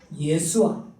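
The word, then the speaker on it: ישוע: 이것은 헬라어의 발음이고 히브리어는 예수아, 여호수아 이게 본래의 이름입니다.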